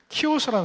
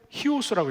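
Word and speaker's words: Chios: 처음에 우리가 터키에서 그리스까지 배를 타고 가는데 처음에 들려서 가는 섬이 키오스라는 섬이에요. 근데 히오스라고 읽어요. 히오스. 키오스 아니냐? 히오스래. 나보고 키오스라 한다고 웃어요.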